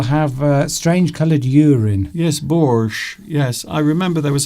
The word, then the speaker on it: borscht: Yes, borscht.